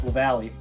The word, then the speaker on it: Lavallee: Please let me know if I pronounced that correctly. That was pretty close. It's Lavallee. Oh, Lavallee.